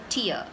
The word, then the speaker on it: tier: was clearly written TIA so this is how it is pronounced it's tear and not tire it's not tire it is tear this word has a